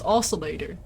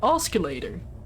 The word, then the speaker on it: oscillator: streams I did was oscillator like that C is in there so I kept pronouncing it oscilator oh like an escalator yeah basically I presume